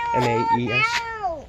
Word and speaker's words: Maes: M-A-E-S.